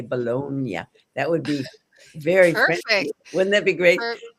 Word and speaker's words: Boulogne: I'm thrilled to introduce Ballone. And, um, I'd like to say it like a Frenchman. I'd like to say Bologna.